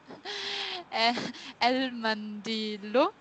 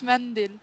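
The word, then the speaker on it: منديل: Al-Mindilu. Oh, Nazifun. No, no. Again, you said man. Don't say man. Yeah, because it's Turkish, it's mandil.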